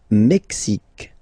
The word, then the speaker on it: Mexique: Le Mexique. Le Mexique. Mexique. It's really the X. Huh? Le Mexique. And then remember this QUE, it's only K.